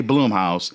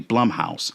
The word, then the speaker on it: Blumhouse: It It Cuz I used to always say Bloomhouse and then now I think we've come to find out that is actually Blumhouse. It rhymes with plum.